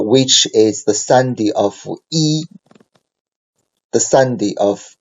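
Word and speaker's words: 一: is read alone so e is pronounced as the first syllable okay so by itself so e is a um first T syllable so we say e right e but if e is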